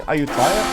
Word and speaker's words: Ayutthaya: Can also try allying Ayutthaya.